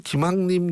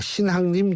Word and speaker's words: 신학림: 인터뷰 녹취록을 공개했다고 말씀드렸는데 제가 아마 신앙님 전 위원장은 김학림 전 위원장이라고 발음한 모양인데요 정정하겠습니다 신학림 전 위원장입니다 원래 기침과 그 애정